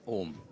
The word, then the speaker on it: ओम: हम उसको देखेंगे, ये ओ और ये डट जब हम उच्चारण करेंगे ये होता है ओम।